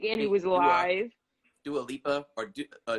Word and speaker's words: Dua Lipa: Dua Lipa, or Dula Peep, as Wendy Williams calls her. I can't even pronounce her name.